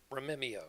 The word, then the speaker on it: Rememeo: Romeo.